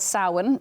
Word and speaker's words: Samhain: And Samhain's, I think it's spelled Samhain, right? So if you were to look it up, but that's the Celtic pronunciation of that exactly, word. Yeah, Samhain or Samhain, depending on where you're from in Ireland.